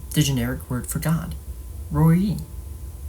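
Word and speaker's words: Roi: Roy, pronounced according to the vowels later put into the mesoteric text roy rhymes with goi rather than koi or boy.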